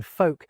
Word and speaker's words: folk: We stop pronouncing the T's in words like castle and hasten, and the L's in folk and palm disappear for a lot of people. Some accents did keep them and others have since reinstated them, inspired by the spellings.